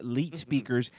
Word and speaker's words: l33tspeakers: on Wednesdays, right before Hippojuice, is Leet Speakers, spelled with 2 3s because that's how you roll, you know?